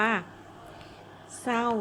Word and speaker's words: เศร้า: รถ ออก เสียง ว่า เศร้า อย่าง นี้ มั้ ถูก ไหม เรา ไม่ ออก เสียง ควบ กล้ำ อะไร ก็ แล้ว แต่